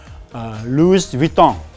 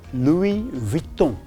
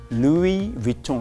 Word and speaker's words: Louis Vuitton: A lot of people will say Louis Vuitton. Okay, it's not Louis Vuitton. It's called Louis Vuitton. Louis Vuitton. We don't pronounce the S.